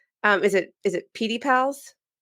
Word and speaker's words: PediPals: Um, so, um, is it is it PD pals? Yeah. So, I pronounce it correctly.